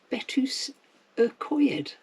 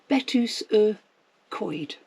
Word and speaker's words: Betws-y-Coed: we are off to betus Ed no that's not correct betus Coy that's right that's how you say it okay I think